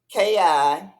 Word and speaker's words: chi: fman the fman Shai Eastern life forces pronounced Ki or spirit is the wound of